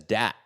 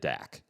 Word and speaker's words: Dat: He's American, but his name is spelled D-A-T. And he goes by Dat.